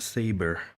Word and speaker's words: sabre: but some amulet sombre why is it written Sabre but it's pronounced saber very useful yeah I